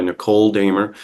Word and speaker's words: Nichol Dehmer: host John Channon and today I'm joined by Nicole damer who is the founder of yard homes Minnesota